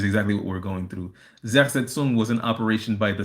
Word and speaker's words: Zersetzung: It's Zersetzung. Again, that's Zersetzung. Zersetsung. It's a German word that means decomposition or erosion, slow kill, which is exactly what we're going through. Zersetzung was an operation by